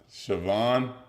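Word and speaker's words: Siobhan: can't be it bro no David come on sioban dang that's crazy no one would guess that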